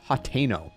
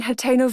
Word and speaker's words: Hateno: line and she she she pronounces the name and she says, "Hateno, peace reigns supreme in Hateno Village."